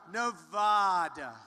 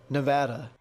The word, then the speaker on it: Nevada: Nevada. Nobody says it the other way. It has to be Nevada. Actually, Donald, wrong. This is right. Nevada.